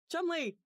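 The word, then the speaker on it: Cholmondeley: If they hadn't said that it's pronounced Chumley, I would never have figured out how to say that correctly.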